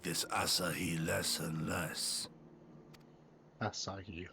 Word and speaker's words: Asahi: Asahi. Okay, that's how you pronounce it.